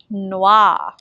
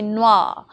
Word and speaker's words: noir: Now consider black, noir.